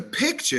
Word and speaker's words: picture: sounded like they're not there's a difference between a picture and a picture the picture is what you take with the camera the picture is what you put your kool-aid in so don't be telling